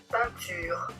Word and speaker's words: peinture: En fin de mot, E i + n suivi d'une consonne peinture. Ici, on peut observer que la prononciation a changé pour 1, le même que ici. Maintenant, peinture, c'est le son